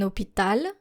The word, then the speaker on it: hôpital: Un hôpital, a hospital.